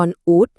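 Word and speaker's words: con út: เล็ก สุด ท้อง ของ บ้าน เรา เรียก ว่า กอน อุ๊ด กอน อุ๊ด ค่ะ จำ ง่าย ๆ เลย ค่ะ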